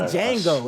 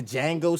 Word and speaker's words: Django: more um like the django style film would be nice d is silent what it's not django it's